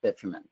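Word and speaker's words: bitumen: put in your report typically would be modified bitman and that's how it's pronounced bitman hey thank you very much Ian appreci appreciate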